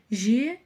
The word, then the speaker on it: жер: тр кель Ген погнали Дальше слово жер жер опять же читаем через е и видим в конце